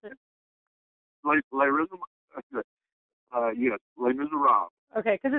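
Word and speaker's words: Les Misérables: Is that how you pronounce it? Les Miserables.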